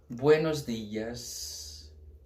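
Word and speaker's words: buenos días: O primeiro deles que eu vou mostrar para vocês é buenos dias. Tá, ó. Buenos dias. Não é dias, a gente não fala di em espanhol, não tem esse di. Buenos dias. Tá?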